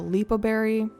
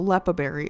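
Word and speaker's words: Leppa Berry: So it's the red one, the lepaberry. No, the lepaberry is how you say it.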